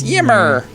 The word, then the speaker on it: Ymir: But I can't help it. It's a Y. We're American and Southern. We got to pronounce the Y. Right. It's Ymir. Ymir. Ymir. It's Yimmer.